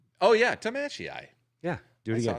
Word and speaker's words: Tamashii: Tamashii. Tamashii. You know what that reminds me of? Yes. Big Hero 6. Oh yeah, Tamashii.